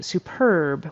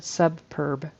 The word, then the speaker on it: superb: And then superb. We say superb. Her superb private practice. And I heard subb. And I think she added like a another B in there. Subb instead of superb.